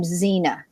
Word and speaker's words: Xena: So for an example, let's take the name Xena. You hear a Z, but it's spelled Xena. So you interpret the X